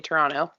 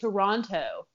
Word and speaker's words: Toronto: Ontario is French and how to properly say Toronto ooh let's hear it how do you properly say Toronto exactly how you just said it oh yeah we said it right I mean I used to say to Ron toe oh don't enunciate the T I hear right anyone